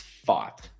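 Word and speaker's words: Pfaadt: one up last year it's fought like f okay he fought very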